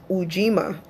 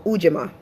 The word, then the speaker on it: Ujima: So the third principle is UJIMA or UJIMA. Okay, it's spelled UJIMA, and UJIMA basically means collective work and responsibility.